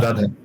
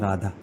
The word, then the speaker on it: Radha: So to come back to the Krishna and Radha example, the word Radha, if you see, it is opposite of Dhara. The Dhara, reverse that becomes Radha. Put the first syllable second syllable first, then the word changes.